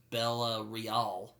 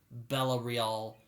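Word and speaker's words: Bella Reál: been elected her name's bella real i think is how you pronounce it spelled like real but it's french so nashton's followers show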